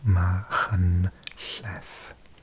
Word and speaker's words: Machynlleth: So it's got the ch sound, the ll sound, and if you're a non-native British speaker, th sound as well. Machynlleth.